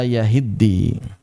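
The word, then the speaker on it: يهدي: di sini ya am yahiddi maka di sini yahiddi aslinya adalah yahtadi. Nah kata yahidi aslinya yahtadi tapi t-nya kan enggak ditulis maka mau enggak mau harus diidghamkan.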